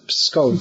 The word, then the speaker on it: Pskov: Pskov.